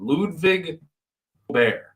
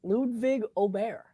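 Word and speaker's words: Ludvig Åberg: Ludwig Aubert. It's very subtle. Ludwig Aubert. Aubert with a silent G. You don't see too many silent G's. No, you don't. Like lasagna. Yeah. Real G's moving silence like lasagna.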